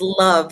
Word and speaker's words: Love: My name is pronounced Love, like I love you.